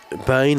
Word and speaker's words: Bane: Bane like pain is the pronunciation.